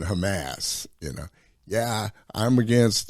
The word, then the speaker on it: Hamas: girl that's in there and she's talking about hamamass yeah she pronouncing Hamas you know yeah I'm against the atrocities committed